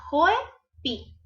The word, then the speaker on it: Joepi: mucho de mi amigo Joypi o Joypai. Si no lo conocen, búsquenlo en Facebook, Instagram como Joypi, o sea, Joepi, como se escribe, como se pronuncia, así lo escriban, Joepi.